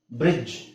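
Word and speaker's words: bridge: ಪದ ಕಾಮನ್ ಆಗಿ ಬಳಸೋದು ಬ್ರಿಡ್ಜ್ ಬ್ರಿಡ್ಜ್ ಡಿ ಅವಶ್ಯಕತೆನೇ ಇಲ್ಲ ನಾವು ಜಸ್ಟ್ ನಾವು ಬ್ರಿಡ್ಜ್ ಅಂತ ಹೇಳಿದ್ರೆ ಸಾಕು ಇಲ್ಲಿ ಏನ್ ಹೇಳಬೇಕು ಇನ್ಮೇಲೆ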